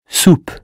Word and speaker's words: soupe: Soupe. U or OU? Ou as in zoo. Soupe.